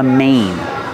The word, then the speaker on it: mane: circle around his head this is called a Mane a lion has a main like Main Street